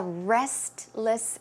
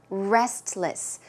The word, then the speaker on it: restless: I tend to be a restless sleeper. Restless. But if you pronounce the word a bit quickly, naturally, you may not hear the T.